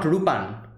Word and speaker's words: Lupin: in english interesting like they're calling him lupan not rupan like this is another